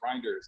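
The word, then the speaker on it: Rynders: last name is pronounced reinders r-y-n-d-e-r-s reinder yeah still look yeah like right like Ryder with an N got it yes sorry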